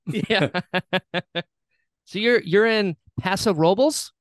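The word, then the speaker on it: Paso Robles: so you're you're in Pasa robes is that how you pronounce it yeah you nailed it well I mean I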